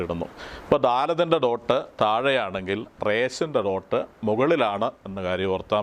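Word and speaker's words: Resh: 20 letter ആണ് ഇരുപതാമത്തെ letter ഇതിൻറെ പേര് ഇതാണ് റേസ് എന്നാണ് അതിന്റെ പേര് ആർ ഇ എസ് H raise എന്നാണ് ഈ ലെറ്ററിന്റെ പേര് റേസ് എന്ന സിറിയക്ക് വാക്കിന്റെ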